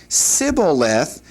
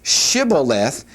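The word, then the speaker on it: shibboleth: whenever they said that, all they could say was siblith, which means stream, whereas Shibuith, interestingly enough, means ear of corn.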